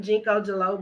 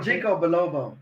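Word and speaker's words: ginkgo biloba: Mama say I need to take some Jalobo, some Jinko Jalobo or something. No, Jinko Bilobo.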